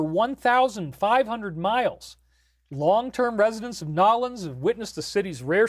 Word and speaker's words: New Orleans: That's how you got to pronounce it. New Orleans.